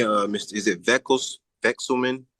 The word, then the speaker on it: Vekselman: Vexelman. Call me, but you got it. I can't believe you pronounced it right, but yeah, just call me.